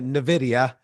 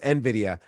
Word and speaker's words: Nvidia: tell you're a Trader at heart because Traders pronounced Nvidia Nidia and Nvidia is pronounced Nvidia but since Traders just trade they don't have